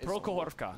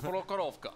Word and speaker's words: Prokhorovka: Prokhorovka. What is our Russian? Prokhorovka.